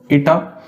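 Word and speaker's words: eta: constant टा that symbol it's a Greek letter it is pronounced as ईटा और इस ईटा को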